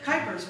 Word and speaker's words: Kuypers: My sister was a typing teacher, so she'd say, Kuypers rhymes with typer.